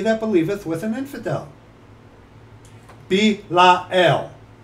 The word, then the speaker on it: Belial: And what concord hath Christ with Belial? Or what part hath he that believeth with an infidel? Belial. Three syllables.